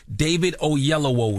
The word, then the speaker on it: David Oyelowo: David Oyelowo is here.